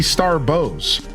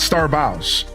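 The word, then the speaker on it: Starbows: You can call me Starbs with bow as in take a bow, but it's more like bow as in a gift bow.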